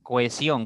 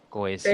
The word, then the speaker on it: cohesión: Cohesión, ¿cuántas sílabas? 3. Muy bien. Cohesión, 3. correcto. Ahora, si tienen alguna duda aquí voy a explicarles. En cohesión, entre la O y la E hay un hiato.